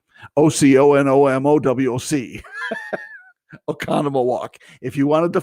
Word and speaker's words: Oconomowoc: And if you see Oconomowoc, you'll know that that's not the way you pronounce it. Oconomowoc.